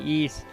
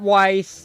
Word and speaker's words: Ys: I said it right East it's not Weiss it's not yaser wise yes it's it's yeast lacrimosa of Dana yeast